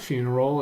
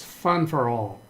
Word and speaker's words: funeral: It's not funeral. It's fun for all. Funeral. Like fun-er, not you're dropping the F. Fun for all. Funeral. Instead of funeral.